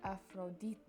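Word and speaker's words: Ἀφροδίτη: number two is aphrodite but they would pronounce it afrodite three is faistos and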